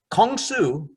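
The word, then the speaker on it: 공수: Kung Su is the Korean pronunciation of karate.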